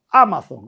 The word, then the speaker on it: Amazon: Un alcohólico en las redes Amazon o Amazon, no sé cómo se dice. Amazon, con acento en la A, se dice.